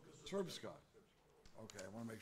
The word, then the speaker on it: Srpska: cantons, and the Republic of Serbia, let me pronounce it right? Srpska. Okay, I want to make sure I'm pronouncing that. Srpska.